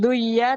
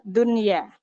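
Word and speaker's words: دنيا: kan tanpa spasi ya Nah itu bacanya nunnya tetap terang ya bukan duya tapi Dunya ini pengerja walian untuk huruf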